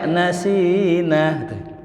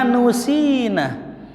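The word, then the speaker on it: نُسِّينَا: Ada yang baca nasina. Ternyata ada sebagian orang menyalahkan bacaan itu, yang benar minhuma nusina. Ya. Minhuma nusina, yang benar bacanya minhuma nusina.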